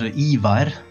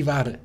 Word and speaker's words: Ivar: Auf Norwegisch eigentlich fast identisch. Ivar, also man rollt das R, je nachdem, wo man herkommt. Genau, Ivar.